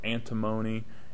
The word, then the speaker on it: antimony: remember the symbol for antimony is that it rhymes with alimony and if you have